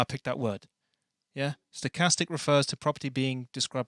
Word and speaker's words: stochastic: Stochastic.